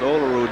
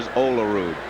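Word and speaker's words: Olerud: grandmother pronounced it olude he said my father pronounced it olude so either way it's going to be all right but he prefer olaru and that's the way the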